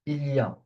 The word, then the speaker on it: il y a: This expression is pronounced il y a, okay?